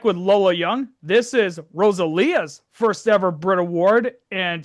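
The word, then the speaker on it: Rosalía: It's pronounced Rosalia. Why is it Why does it look like Rosalia?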